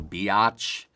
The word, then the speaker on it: biatch: You know, you can really hear it in the two-syllable biatch.